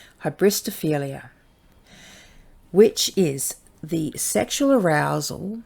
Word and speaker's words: hybristophilia: is a big one i'm gonna spell it out and i'll sound it out so it's hybristophilia so h-y-b-r-i-s-t-o-p-h-i-l-i-a hybristophelia which is the sexual